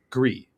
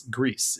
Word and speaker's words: Gris: started saying that like well no it is Gree and and then someone else said well it's Spanish it's it's Greece and you know it it snowballed into a whole thing uh that you know it just didn't matter at all but it's Gree or Greece doesn't like however you want to pronounce it we'll we'll keep talking